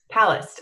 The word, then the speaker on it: Palast: the time but is it Greg past palast palast okay Greg past palast um Greg palast is